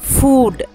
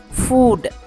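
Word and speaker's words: food: இதில் நல்லா நோட்டீஸ் பண்ணி பார்த்தீங்கன்னா, நான் ஃபுட் அப்படின்னு சொன்னேன், நம்மளில் நிறைய பேர் ஃபுட் அப்படின்னு சொல்லுவோம், அது குரில் இல்லை நெடில், சரியா, ஃபுட், ஃபுட், that's how இட் is pronounced. ஆனால் பாதம் இருக்கு இல்லையா, அது ஃபுட், FOOT, ஃபுட், இது குரில் தான்.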